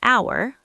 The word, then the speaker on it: hour: An apple, an egg, an orange, an hour, the h is silent, an umbrella, an elephant.